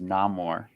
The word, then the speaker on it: Namor: I think the correct pronunciation is Namor. That's what I learned this week.